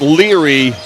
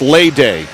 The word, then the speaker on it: Lede: It's not Leary Mayayo, it's Lede.